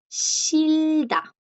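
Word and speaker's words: 싫다: Por ejemplo, el verbo shilda. Shilda. Shilda, chicos, es el verbo odiar. Shilda. Aquí la J, como pueden ver, no suena.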